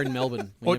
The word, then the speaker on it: Melbourne: Or the R in Melbourne. We Or- never pronounce the R in Melbourne.